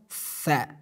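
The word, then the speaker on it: ث: one, tha, letter of tha, tha. It is pronounced tha. So how should we pronounce? As you see in the video, we pronounce it from top of our tongue.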